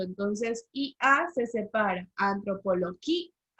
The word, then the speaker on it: antropología: La palabra antropología, ¿qué palabra era? Grave. Antropología es grave porque recordemos que allí hay un hiato, entonces IA se separa, antropología.